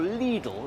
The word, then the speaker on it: Lidl: Lidl, the German supermarket, or Lidl as we're meant to pronounce it, is more famous for its Black Forest ham.